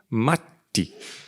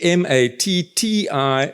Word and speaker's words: Matti: So Matti, M-A-T-T-I, so you actually have to pronounce both things. It's an A sound, it's an A without the dots, so it's Matti.